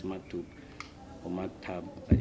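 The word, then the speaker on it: مكتوب: I don't know like the correct pronunciation, but it's maktub or maktab, but it's maktub. I'm sure it's maktub.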